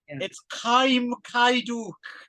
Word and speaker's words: Kim Ki-duk: That pronunciation is awful, Ron. It's Kim Ki-duk.